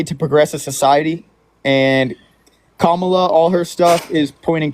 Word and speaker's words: Kamala: It's Kamala. She's your vice president.